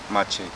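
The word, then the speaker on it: Maciej: ударение мацей, да, правильно? Мачей. Мачей. Да, ну все говорят. Мацей все. Да. Что ты мацей говоришь? Мачей, мачей.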